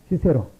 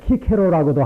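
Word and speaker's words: Cicero: 보통 이제 키케로라고도 하는데 우리나라 영어 사전에는 시세로들이 있어요. 인도 유로피안 어 중에서 둘로 나누는데 C를 갖다가 K 발음하는 어종하고 그러니까 그 유럽어가 C를 갖다 S 발음한 어종으로 나눠요. 이 두 어종으로 이제 나뉘는데 저것 때문에 어떤 사람들은 시세로를 키케로라고도 하고 어떤 사람은 시세로라고 하는데 우리는 한국 영어 사전에 나온 것을 따라서 시세로라고 발음을 합니다.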